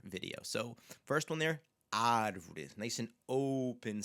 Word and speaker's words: árvore: So the first word that we see there is the word for tree, and you'll hear this open A sound at the beginning, árvore, árvore, okay, árvore.